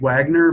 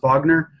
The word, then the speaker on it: Wagner: It looks like Wagner, but it's pronounced Wagner.